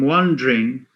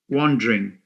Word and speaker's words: wondering: I'm wondering. Why is it wondering? Not wondering. And most foreign language learners tend to say wondering. It's wondering. You know why? Wandering. Wandering because the E is silent.